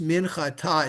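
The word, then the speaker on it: מנחתה: So a lot of times when you have a hey at the end of a word, it's silent. But when you have that dot in there, it's called a mapik, and it's like you're taking a breath. It's not just, yeah, it's not just minchata, it's minchata, Oh.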